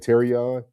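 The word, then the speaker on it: Terrion: You said Terion.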